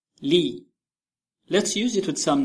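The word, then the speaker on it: لِ: It is pronounced li, li.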